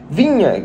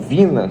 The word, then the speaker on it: Viña: vamos começar falando do Matias vinha jogador ou Vina como você quiser pronunciar muita gente pronuncia dessas duas formas um jogador uruguaio de